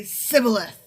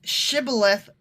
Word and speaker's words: shibboleth: if he was from ephraim he would say sybileth because people for me from cannot pronounce the word correctly not that they correct not that they pronounce it differently they can't pronounce it correctly because it's shibboleth versus sybil okay but still so they couldn't